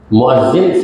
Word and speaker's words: مؤذن: کام رہا تو مؤذن، مؤذن صحیح تلفظ ہے، ہم اس کو مؤذن کہتے ہیں، مؤذن۔ تو حدیث پاک میں